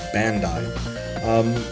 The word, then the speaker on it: Bandai: Bandai, pronounced in the West as Bandai.